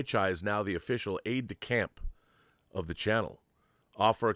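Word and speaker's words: aide-de-camp: Is it aid to camp or aid to champ? Is it is it like a French word I'm mispronouncing? It's aid to camp. It's aid to camp.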